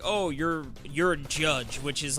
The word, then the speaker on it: Jydge: what it's called yeah with a why he pronounced it judge yeah I think what I think that's how I've been pronouncing it and like the it's jyd G yeah the way g-d's change now it's definitely supposed to be judged because like that pretty